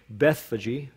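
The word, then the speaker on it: Bethphage: near to beth fegaye in greek it's baithfaget some would pronounce it in english bethfaji we don't we don't know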